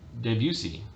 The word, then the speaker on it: Debussy: music and then uh claude debussy or debussy if you will for the french pronunciation he comes up with